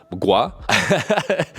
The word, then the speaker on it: mgła: So, for example, the word for fog, mgła. When you look at it, it looks totally weird and it's like three consonants back-to-back, but it's actually like one syllable.